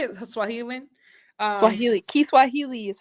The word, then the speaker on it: Kiswahili: Kiswahili is how you say it in Swahili.